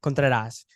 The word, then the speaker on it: Contreras: Donis brothers and today we have not Natalie Contreras did I say that right yeah you said